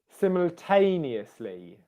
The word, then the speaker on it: simultaneously: I'll tell you, it's on the tay, tay, tay. Simultaneously. Simultaneously. Simultaneously. I've taught this in other videos this week, but the stressed syllable will be louder, longer, and higher in pitch.